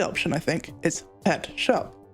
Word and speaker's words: scop: The more likely option, I think, is pet shop. Shop is the Old English word for a poet, and yes, it is pronounced shop, meaning Petscop and actually